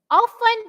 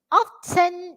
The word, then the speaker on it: often: is there will be we can use two, okay, two pronunciation for this type of word, okay. Often is for British, often is for American, okay.